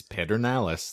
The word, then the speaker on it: Pedernales: his uh pedernales ranch that's it it's it's pedernales that's how it's spelled you had to go door-to-door and tell